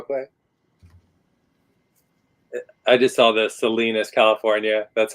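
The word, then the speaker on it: Salinas: to envelope real quick I just saw the Selenas California that's how it's supposed to be pronounced Selenas yeah Selenas yeah Selena like Sal Kansas salinus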